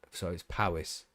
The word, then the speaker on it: Powys: which is spelt with, it's pronounced like Paris, but like Jonathan Ross was saying it, so it's Powys.